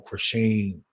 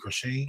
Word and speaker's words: Chrisean: I know you from the whole Krishan. That's how you pronounce her name, Krishan.